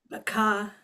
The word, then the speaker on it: Baqa: Ahad butterflies Baka butterflies Baka that's how I pronounce it right Baka Baka see thank you very much so butterflies